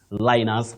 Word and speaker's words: Linus: Sometimes when you come to English, We'll say Linus. You may find somebody, like in Latin, somebody may talk of Linus. Another person, Linus. But in English, this name is pronounced Linus.